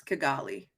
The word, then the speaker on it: Kigali: It's Kigali. Potato, potato. I'm just saying. Listen, there's few words I know how to pronounce.